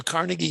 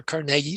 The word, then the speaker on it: Carnegie: Teddy Roosevelt Thomas Edison Andrew Carnegie himself or Carnegie depending how you say it Charles Schwab Henry